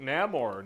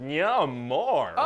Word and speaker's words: Namor: Neymar Namor no more how do you pronounce that you know everybody in the movie is going to say it differently I guess there's no wrong way to say it no I'm gonna pronounce it yeah more okay no maybe there